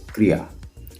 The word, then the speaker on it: क्रिया: The pronunciation of this word is क्रिया।